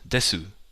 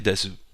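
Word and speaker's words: です: Because it's written as desu. But we don't say desu, we say des.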